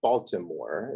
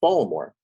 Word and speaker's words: Baltimore: It's not Baltimore. It's 2 syllables, Baltimore.